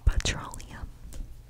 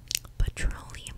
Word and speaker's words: petroleum: U because the last time name I had pronounced it pallum pallum and no one in the comments corrected